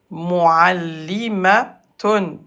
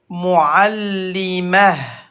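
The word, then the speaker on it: معلمة: la gauche, une enseignante, muallimatun, muallimatun. Et alors on répète, muallimatun. Et à l'arrêt, le T fermé se prononce comme ha, muallimah.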